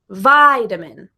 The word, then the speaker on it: vitamin: you vitamin and petition the word vitamin has a stress in vitamin the first vowel sound to be stressed is the I in by diamond so the other vowel sounds like the a is the schwa vide uh vitamin okay similar with the word